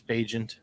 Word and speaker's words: Bagent: For me, Is that how they say his name, Bagent? yeah, it's Bagent. That's how I've heard the announcers pronounce it and other people pronounce it.